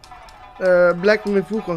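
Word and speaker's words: Black Myth: Wukong: Black mit Wukong heißt das, by the way. Habe ich gerade falsch ausgesprochen, dieser Sonneners.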